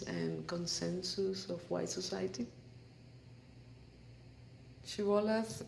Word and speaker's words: Shibboleth: were crossing the river, they would request to pronounce the word Shibboleth. They could not pronounce it like that, and they pronounced it Siboleth.